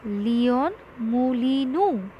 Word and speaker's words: Leon Moulinou: Try to understand and pronounce the name properly. It is Leon Moulinou. Okay, it is a South American name. So we have to pronounce it like this.